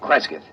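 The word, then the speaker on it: Cresgyth: C R E S G Y T H Kresith. What's that? Local. Well, that's his phonetic interpretation of the name the people here use.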